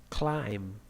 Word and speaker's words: climb: And the another sounds, the voiced sounds now, they in some situations they have some silent sounds too. Plumber, climb, dat, bomb, B, and now D. Wednesday, handsome, handsome, sign, design, campaign, okay, in G sound.